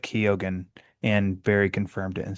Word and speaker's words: Keoghan: I always pronounce. Is it Keegan? Keoghan. Keoghan. It's what he was on Happy Sad Confused. Yeah. And I think Josh Horowitz said Keoghan, and Barry confirmed it and said, hey, thanks,